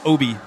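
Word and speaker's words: Aaby: And there is your libero, senior, number 3, Reese Obi. If you're looking at the program, Jenna, Reese's last name is spelled A-A-B-Y, but I did check, and it is pronounced Obi.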